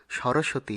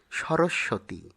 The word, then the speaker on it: সরস্বতী: পরেরটি সরস্বতী। যা ভুলবসত আমরা সরস্বতী হিসেবে উচ্চারণ করি। সঠিক উচ্চারণ হবে সরস্বতী।